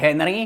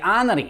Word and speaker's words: Henry: Toto samozrejme platí aj v menách. Preto tento basketbalista z Francúzska nie je Tieri Henry, ale Tieri Hry.